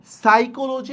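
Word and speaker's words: psychology: উচ্চারণটা করতেছি কিন্তু আমরা নলেজ লেখছি হচ্ছে কনলেজ উচ্চারণটা করতেছি নলেজ সেম আপনি দেখেন ডিডবল আরডিও আর বাদ দেন কি দেওয়া যায় সাইকোলজি যদি আমরা বানান লিখি সাইকোলজি পি বানান ব্যবহার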